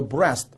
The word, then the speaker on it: breast: 그 다음에 soldier의 예문을 보시면 the soldier was shot in the breast. 아까 우리 배우고 왔죠? breast라는 단어는 east가 들어있지만 그렇게 발음하지는 않고 rest, 휴식이라는 단어를 가지고 와서 발음을 가지고 와서 breast로 발음한다.